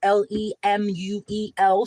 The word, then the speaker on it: Lemuel: While Justice Lemuel Shaw was, or Lemuel, I would say it is pronounced Lemuel, Shaw, was considering the woman's fate.